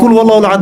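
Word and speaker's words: قُلْ هُوَ اللَّهُ أَحَدٌ: কি কুল হুয়াল্লাহু আহাদ মানে কি? এটা উচ্চারণই বা কেমন করে করতে হয়?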